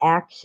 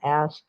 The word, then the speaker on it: ask: Well, I actually don't mind if they say ax instead of ask.